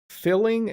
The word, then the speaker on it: filling: Filling and feeling are pronounced slightly differently, okay? Oh, that meal was very filling. Now I'm feeling sick. Did you hear the difference there?